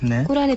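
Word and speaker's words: قرآن: 게시를 받게 된 때와 꾸란의 찬사에 대해서 하겠습니다 그 란이라고 하는 것 저희가 첫 시간에 그런 말씀드렸는데네 예 저희들은 란이라고 발음을 했었거든요 확실히 꾸란이 예 꾸란 아랍어 발음으로 란이라고 란이라고 발음을 해야 정확하군요네 아 무하맛께서 쿠란을 편찬하는음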